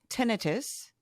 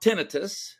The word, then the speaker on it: tinnitus: It is spelled tinnitus. Yes. So if you look at it, the word is tinnitus. Yeah. But we're used to itis this and itis that. Yeah. And I don't think it's wrong to say tinnitus. I don't think that's wrong. Well, I found one site that said that tinnitus was the British pronunciation and tinnitus is how Americans have kind of bastardized it.